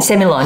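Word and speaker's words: Sémillon: in the hunter valley you pronounce semi-on different to other parts of australia yeah i say civil war semillon yeah um like i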